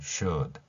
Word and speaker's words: should: 있다는 것입니다는 디귿으로 표현했고요 이렇게 된다면은 should 이렇게 발음할 수 있죠 우리말에서 슛 이런 발음이 아니라 이렇게 받침에 해당되는 소리를 읽어 줘야 한다는 것입니다 왜냐면 알파벳은 왼쪽에서 오른쪽으로